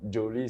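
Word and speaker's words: Joly: Bon, Joli, c'est ma prononciation à moi, mais sinon, c'est Joli, J-O-L-Y.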